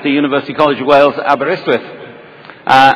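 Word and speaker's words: Aberystwyth: studied chemistry at the University College of Wales abber iswith uh abber iswith in case you don't know is a beautiful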